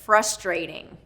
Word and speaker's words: frustrating: It's first syllable stress. So we have first syllable stress on this one. Frustrating. We've got a long vowel in that second syllable. Stray, frustrate, okay? And then we also have the tap T rule in here. So that T in frustrating, ding.